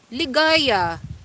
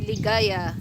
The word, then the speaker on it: Ligaya: Ligaya. That's how it pronounced, Ligaya. Probably if in American alphabet, Ligaya.